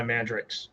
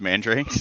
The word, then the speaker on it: Mandrakes: of scorching with dark lances and then my mandrix which we both mispronounce that ever again you mispronounced mandrakes yeah I was really tired in the wrong